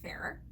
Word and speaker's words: Farrar: I believe they pronounce it Farrar.